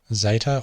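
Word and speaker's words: ζῆτα: Zeta or zeta, making a Z or a DZ sound, so Z or Z.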